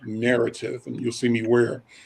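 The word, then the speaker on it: Knarrative: social media project called narrative and you'll see me wear their gear it's a hoodie narrative is spelt like word knowledge but knowledge sounds like an endless spell with a k k n o w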